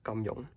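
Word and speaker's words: 金庸: two words over here in cantonese this is pronounced as gamjon and this is a ver he's a very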